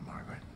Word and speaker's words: Margaret: To pronounce Margaret, have in mind that the size of the syllable indicates where the accent or stress is. In this case, the accent is in the first syllable, corresponding to Mar.